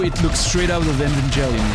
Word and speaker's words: Evangelion: I just know it looks straight out of Evangelion right now. Evangelion or whatever, however you pronounce that. Fucking crust, you know, like in the... Oh, the music. Evangelion, hard G, yeah.